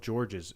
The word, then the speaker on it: Georges: Also, apparently even though it's spelled Georges, it's just George.